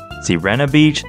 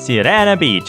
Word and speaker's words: Sirena Beach: Soprano Beach, Sassafras Beach, Sirena Beach, El Mio Spettatore. Seriously, though, there is no documentation of this name anywhere. Most people say Sirena Beach, as in the name Serena.